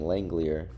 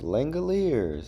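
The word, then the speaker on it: Langeliers: I used to call him Langlier. I had no idea how to say his name.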